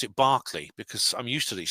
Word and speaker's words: Berkeley: College in California, Berkeley UCL, I want to pronounce it Barclay because I'm used to these sorts of pronunciations.